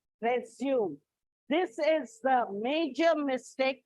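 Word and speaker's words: résumé: Resume actually has a small excuse me. Actually, if you see, there is a slanting bar over the E.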